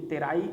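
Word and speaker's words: Terai: अब यहां पर जैसे यहां पर पहुंचते हैं दूसरे क्षेत्र देखो ये तराई टी ई आर ए आई लिखा है पर इसका प्रोनाउंसिएशन है तराई।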